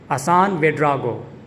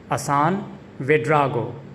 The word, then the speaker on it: Assan Ouédraogo: His name is pronounced Hassan Ouedraogo. Hassan Ouedraogo. The emphasis is on the second syllable dra in the second part of his name, Ouedraogo. Hassan Ouedraogo. Hassan Ouedraogo.